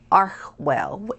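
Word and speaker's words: Archewell: project which is archwell which is archwell as we know uh lady colin campbell has said is the correct pronunciation and i believe her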